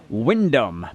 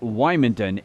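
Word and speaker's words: Wymondham: place called um um well the locals say Wyndham but um hey we probably know it better as wymonden it's just near Norwich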